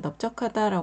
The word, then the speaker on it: 넓적하다: 주시고 외워 주세요 넓둥글다 두 번째는 넓적하다 있니다 어 넓적하다 말할 때도 리을 받침이 소리가 나지 않습니다 비읍 받침이 소리가 나서 넓적하다 세 번째 글자는 하다입니다